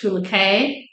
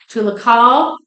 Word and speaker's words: Tuluca: Now, sometimes Tuluca in the literature is spelled or pronounced Tulucay, Tulucay, Tulcay, Tulucal.